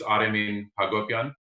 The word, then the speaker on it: Aremin Hacobian: So the actual pronunciation is Aremin Hacobian.